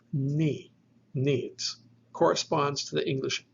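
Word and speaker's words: νι: But the letter ni is a dental nasal.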